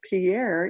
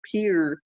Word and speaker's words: Pierre: By the way, if you put Pierre, but you pronounce it Pierre, you're not from South Dakota because we pronounced it Pierre.